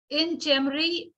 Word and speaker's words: Inchmaree: Next आपका हो गया टच एंड स्टे हो गया, और है इन चेमरी क्लाउज।